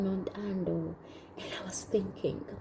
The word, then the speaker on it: Nontando: So this side, my name is pronounced as Nontando. Now Miss Crystal used to say Nontando, and I always felt so cute when she said that.